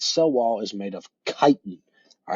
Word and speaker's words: chitin: wall is made of chitin all right so that word that we see right there at the end is chitin so it's pronounced kite in all right chitin that's